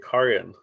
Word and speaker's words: Carian: Well, actually, it was a like a long A Carian.